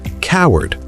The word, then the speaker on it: cowered: And the past tense is coward. Duh. It's exact same pronunciation as this word coward.